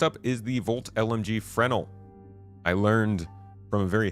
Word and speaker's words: Fresnel: Last up is the Volt LMG Fresnel. I learned from a very helpful Redditor that the S is silent in Fresnel.